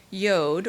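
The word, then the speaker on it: יוד: be transliterated this way yod rhyming with road which we transliterate as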